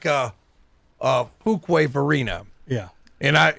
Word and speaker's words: Fuquay: It's like Fuquay Varina. Yeah. And it's really Fuquay, I think is how you say it. Yes, you say it Fuquay.